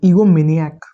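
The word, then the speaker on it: egomaniac: अब एक इससे भी बढ़कर एक वर्ड हमारे पास निकल कर आता है वो होता है ईगोमिनियाक। ठीक है?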